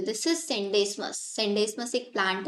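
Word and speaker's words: Scenedesmus: इसमें S silent रहता है बच्चों। This is सेंडेस्मस।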